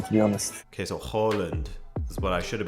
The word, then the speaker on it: Haaland: Two A's is O in Norway, but we're not in Norway now. Haaland, I like it more, to be honest. Okay, so Haaland is what I should have been saying instead of Haaland.